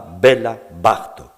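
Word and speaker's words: Béla Bartók: dans la musique hongroise l'accent tonique ne se place pas comme dans la langue française il se place bien plus volontiers sur le de près la première syllabe du mot on dira bela bartok et donc cette accentuation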